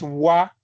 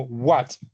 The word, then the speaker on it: what: correcta, no es wa, sino what, que aquí está t es lo que hace esta w y esta t es, digamos, la característica principal de esta palabra.